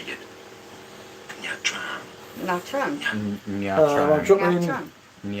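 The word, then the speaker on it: Nha Trang: Nha Tran.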